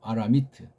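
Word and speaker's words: ארמית: 원문에 나오는 대로 아라미트라고 해요. 원어 발음으로 아라미트.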